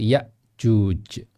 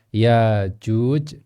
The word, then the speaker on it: Ya'juj: yaitu qiraah Hafsan Asim, beliau membaca dengan hamzah, yaitu Ya'juj dan Ma'juj. Dan ahli qiraat yang lain, yaitu ulama qiraat yang lain, mereka membacanya tanpa hamzah, sehingga membacanya Ya'juj dan Ma'juj. Jadi kalau ada hamzahnya di Ya'juj, kalau tanpa hamzah jadi Ya'juj, ya.